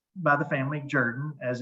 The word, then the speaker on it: Jordan: Now, it's pronounced by the family "Jerdan," as it's pronounced, uh, spelled "Jordan," I grew up with the word "Jordan" but the family actually pronounces it "Jerdan."